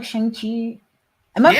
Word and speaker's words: Shang-Chi: Just as Joe McPhee rants about speculation, I rant about how they pronounce Shang-Chi. It's Shang-Chi! Shang-Chi!